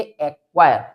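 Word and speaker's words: acquire: अगर सी क्यू एक साथ मिलता है तो उस कंडीशन में भी सी को साइलेंट रखना है। जैसे एक्वायर एक्वायर।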